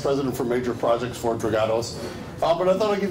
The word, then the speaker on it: Dragados: I always like the way Americans say Dragados. It's Dragados. We are a Spanish company. It's always Dragados.